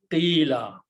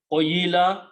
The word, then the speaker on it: قِيلَ: Again, in order to pronounce it smoothly, we also change the sound of this dhamma to a kasra. So it becomes a smooth sound, qila. Instead of qoyila, we again change the sound here, qila.